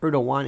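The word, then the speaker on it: Erdoğan: Erdogan? Is that Atlantic Records? No, pronounced Erdogan, and by the way, it's Turkiye, right?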